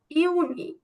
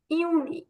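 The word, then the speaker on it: Juni: মে কে বলবো মাই মাই জুন কে বলবো ইউনি ইউনি জুলাই কে বলবো ইউরি ইউনি আগস্ট কে বলবো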